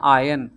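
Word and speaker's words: iron: clothes for work tomorrow इसको हम पढ़ते हैं आयन आर है silent I will आयन माय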